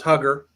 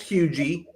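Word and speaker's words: Huger: Um, when I first moved here, I thought it was Hugger. Uhhuh. Yeah. A lot of people live here all their life and they still think it's Hogar, but it is pronounced huge.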